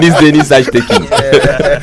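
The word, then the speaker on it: Deniz Aytekin: Non, mais c'est la prononciation qui est assez différente, quoi. Vous le prononcez la turque, là? Oui. Denis Ajtekin.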